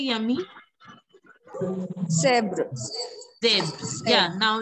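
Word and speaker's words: zèbre: in this word, that you are pronouncing it as zebro. It is not zebro. It is zebr.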